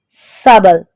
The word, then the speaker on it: subtle: SUBTL, subtle, B is silent.